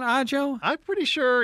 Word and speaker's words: Ajo: of town if they're like oh I'm on odd Jo Road where the hell are you I'm on the i-19 in a Jo Road a Jo Road yeah that one's if